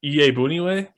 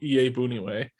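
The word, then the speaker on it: Iyiegbuniwe: uh i think it's ea boonieway and the g is silent joel ea booneyway he's a linebacker primarily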